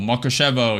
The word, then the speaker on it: Mukachevo: Mukachevo. Yep, that's how you pronounce it. Makushevo.